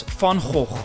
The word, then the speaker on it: van Gogh: Dutch painter in history van Gogh which we pronounced in Dutch as fond hope the Vincent van Gogh